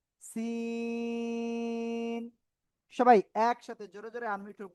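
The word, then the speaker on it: سين: এই যে সিন, এমন উচ্চারণ হবে। শিন হবে না। শিন হতে গেলে উপরে 3 নোক্তা হতে হয়, ঠিক আছে?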